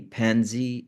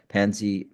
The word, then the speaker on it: Panzi: And in the Congo, the Pansy Foundation. Is that the correct pronunciation? The PANZI, Pansy Foundation.